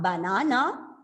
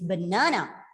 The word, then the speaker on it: banana: So here it's not banana, it is banana. So b and n.